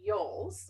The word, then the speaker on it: Yolles: it over to paula yoles and i hope i pronounced that properly you got it perfect i'm going to let